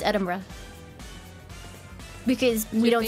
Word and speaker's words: Edinburgh: favorite one is it's Eden Edinburough no it's it's Edinburgh because we don't spell things right your favorite way to say it no it's it's it's it's literally edin Ed Edinburgh edinb edinb BR I'm